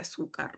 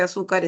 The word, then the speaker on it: azúcar: Entonces, en la lámina estamos viendo dos palabras, la palabra honradez y la palabra azúcar, ¿no? Ambas palabras tienen una sílaba que lleva la mayor fuerza de voz.